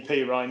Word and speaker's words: Perine: It's just it's just nice to hear people confused over how to pronounce his surname, isn't it? Because it's just never how you expect it to be pronounced. Is it definitely P. Ryan? It is definitely P. Ryan, yeah.